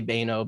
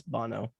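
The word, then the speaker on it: Banno: to make like political it's b-a-n-n-o no bono so an american you'd say baino but in japanese because they're two letters per syllable and per enunciation so it's bono so here we kind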